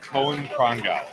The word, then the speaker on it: Cohen Prango: Oh, Cohen Prong. Cohen Prango. Yes, perfect. Thank you.